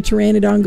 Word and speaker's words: pteranodon: So yeah, you never know when a pteranodon goes to the bathroom because the pee is silent.